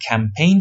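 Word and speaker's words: campaign: تلفظش م فرقی نمی‌کنه منتها ما در زبان فارسی استرس نداریم حالا در زندگی واقعی استرس زیاد داریما ولی در حرف زدنمون در واقع روی لغات استرس نمیذاریم نمیگیم کمپین میگیم کمپین ولی اونا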